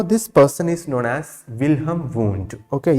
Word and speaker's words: Wilhelm Wundt: person is known as wilhelm wundt okay your h is silent or you can pronounce like anything william or wilhelm who is father of